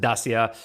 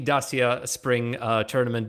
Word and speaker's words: Dacia: relic to pronounce it dasia he sticks to his guns it's romanian it's the romanian i don't know what to tell you about it that's how you say it well we'll have our